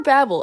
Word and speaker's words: Babel: say this many times i know it's technically supposed to be tower of babel tower babble i think that's yeah that's how it's supposed to be said but that just that's